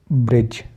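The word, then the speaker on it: bridge: डी को निकाल देंगे तो जैसे बजट एज ग्रज ब्रिज क्योंकि जी के पहले आया डी तो डी को हमने साइलेंट कर दिया तो बजट का मतलब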